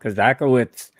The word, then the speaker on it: Kozakiewicz: five fast questions Our Guest today is Bob kazaka witz and there you go now you know the pronunciation of Bob's last name now Bob has